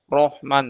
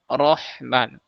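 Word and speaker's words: رحمن: Jadi, bukan ro seperti yang di vokal ee Indonesia ya diucapkan o rohman tapi rahman. Ro, kita naikkan pangkal lidah kita supaya tebal.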